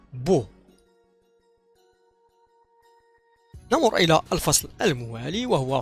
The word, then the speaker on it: beau: ملحوظة كذلك كما رأينا في الدروس السابقة، هذا الثلاثي من الأفعال من الحروف EAU ينطق O devient beau.